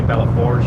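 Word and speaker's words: Belle Fourche: I don't think you say Bellefouche. I say Belleforge, and everybody says I'm wrong, and I probably am, but I'm going to continue to say Bellefouche. Because fouche rhymes with douche.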